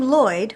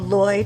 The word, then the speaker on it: Lloyd: So the name Lloyd, which is a Welsh name, would be called Lloyd in America, but Lloyd in Wales.